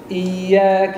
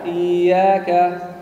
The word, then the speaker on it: إياك: لا تقل إياك، لا تقل، لأنك تضغط على الياء وتشددها أكثر من اللازم، ولكن إياك إياك. نعم نعم، إياك إياك إياك إياك. هل رأيتم الفرق بين الاثنتين؟ نعم، هذه إياك إياك، هذه شديدة وأنت تكسرها بشدة، وهذه شدة لكن لطيفة.